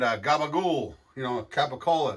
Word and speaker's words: capicola: gabba ghoul you know capicola they go gabagool and moots moots you